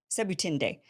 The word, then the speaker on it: Sebutinde: Sebutinde.